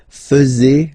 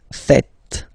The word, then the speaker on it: faites: And it's quite funny because many French people tend to make the mistake and tend to say vous faisiez, okay? But then no. It's vous faites. Vous faites. Okay, so remember, final S here is not pronounced, and then this is not pronounced either.